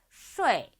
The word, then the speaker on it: 睡: 睡, 睡. 쇼에 이 이렇게 읽는 게 아니고 빨리 읽으면 거의 들리지가 않을 뿐이죠.